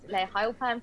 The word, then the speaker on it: Layah Heilpern: It's Layah Heilpern, pronounced perfectly.